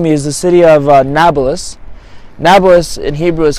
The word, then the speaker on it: Nablus: Arabic however is pronounced Nablus because there's no real P in Arabic is only a B so they pronounce it Nablus the Samaritan used to